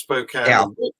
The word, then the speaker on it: Spokane: you're in spokane which is spelt spokane but pronounced spokane we're used to that because we have a